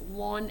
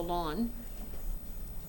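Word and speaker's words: ln: we give it a name we call this lon x so you pronounce it just like gomo the lawn but you write it on x okay so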